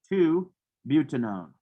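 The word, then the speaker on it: 2-butanone: off and we put one there and it's pronounced as two butanone so is aldehydes like the o is at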